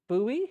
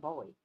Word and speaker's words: Bowie: it's from England and she said his name is really Bowie not Bowie Bowie right did I